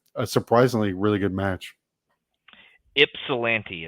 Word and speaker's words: Ypsilanti: Ypsilanti is how you say it, apparently.